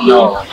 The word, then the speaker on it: gnaw: can you please prounce again again no again no good thank you okay who got the words